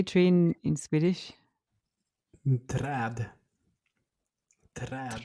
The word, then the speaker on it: Träd: Träd. Träd. Trad. We have this a with two dots on top of them, and that Uh-huh. goes ah.